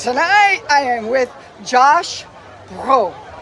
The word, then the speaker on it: Brough: Tonight I am with Josh Brough. Brough. See, I said it wrong. Josh Brough.